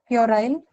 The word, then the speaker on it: puerile: Puerile? Pure. Is it Y, Yeah, ma'am? right. Ear sound. The one that follows the per sound. Yeah. So we should pronounce this word as puerile.